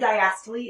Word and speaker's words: diastole: focus on here okay um next systole and diastole is how you say these words systole is